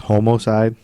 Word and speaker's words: homicide: you know that um homicide used to be pronounced homocide in the 40s no yeah you're making